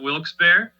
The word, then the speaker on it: Wilkes-Barre: we were founded in a town in pennsylvania that is pronounced many different ways i call it wilkes-barre and uh here in